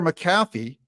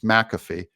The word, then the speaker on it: McAfee: Supreme Court Days Later maffy McAfee sorry I've had you guys correct me on the pronunciation of his name that it's McAfee and I I I